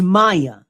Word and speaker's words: Maia: Maya Campbell Maya Campbell what is it M A I A. I never knew how to pronounce it. I think it's Maya.